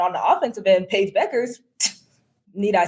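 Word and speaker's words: Bueckers: only do they have paig Paige buckets Paige Beckers said it right paig buckets you said it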